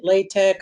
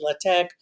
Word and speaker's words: LaTeX: Some people pronounce it LaTeX, others LaTeX, whatever.